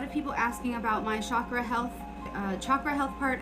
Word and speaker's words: chakra: And yes, it's chakra, not chakra, like chalk chakra.